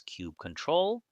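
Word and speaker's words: kubectl: However, one last and very important tool is still missing which is cubectl pronounced as cube control and it is used to control and manage the kubernetes cluster.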